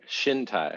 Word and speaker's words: Chintai: so on to chintai is it chin tire shin tai how do you guys pronounce it shintai shinto okay there's probably no ch sound in the um and